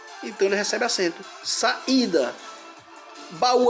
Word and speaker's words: baú: Baú, a mesma coisa. Se eu separar, fica ba, u. Hiato de u, sozinho na sílaba.